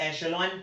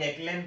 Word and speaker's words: echelon: इसको बहुत से लोग एशेलॉन फॉर्म प्रोनाउंस करते हैं, बहुत से लोग एक्लेन फॉर्म प्रोनाउंस करते हैं।